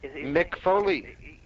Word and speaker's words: Foley: Mick Foley. Exactly. It kind of rhymes with Louis Spicoli, doesn't it? Mick Foley, Louis Spicoli.